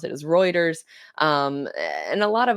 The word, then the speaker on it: Reuters: They they have a lot of sources from Roers Reuters. Yeah, I think that's how you pronounce it is Reuters.